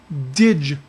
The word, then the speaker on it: dig: you look it looks like dig but it's pronounced dige levels so they will check a ditch level occasionally or daily depending upon what's happening